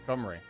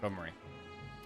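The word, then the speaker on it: Cymru: Yeah, I think it's pronounced Camry, which is weird because it looks like it should be pronounced the other way around. It looks like it should be Simu or Kimru, but yeah, it's it's Camry.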